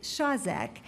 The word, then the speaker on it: Shazek: Okay, so my nominee, his name is Nicholas, it's pronounced Shazek, and you will get